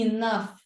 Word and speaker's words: enough: Não faz sentido para nós um GH ter som de F. Como em enough, por exemplo, né?